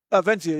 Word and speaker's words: Venezia: Is it Stephen Venezia or Venzia? Is it Venzia? Venzia, yeah.